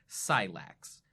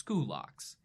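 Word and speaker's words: Scylax: In English, it's usually Latinized and looks like Silax, the same way that Scythians became Scythians. But if you know the classical pronunciation, that becomes Skulaks.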